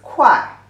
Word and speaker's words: 会: The pronunciation is 快, the false tone.